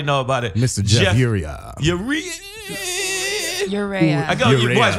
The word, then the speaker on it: Urrea: It's Urrea. Yeah. It's technically, it's pronounced Urrea.